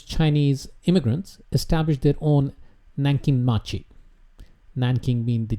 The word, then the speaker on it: Nankin: city eventually those chinese immigrants established their own nankin machi nan king been the japanese pronunciation of nanjing and nankin machi later evolved